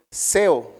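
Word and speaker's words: ζέω: principal se se tradujo del griego seo con acento en la e y Quiere decir estar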